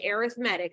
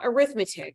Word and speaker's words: arithmetic: page 26 gives us some notation let's take a look at it for arithmetic sequences and that is pronounced arithmetic not arithmetic those are linear sequences